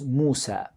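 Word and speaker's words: موسى: original language they in they immediately brought it into a proper Arabic pronunciation of that name and they gave that name an Arabic form and the Arabic form was Moosa or mooo say these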